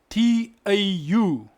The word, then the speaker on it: tau: Like for instance, a lion in Setswana is spelled T-A-U. So you pronounce it Tau. You don't say tau.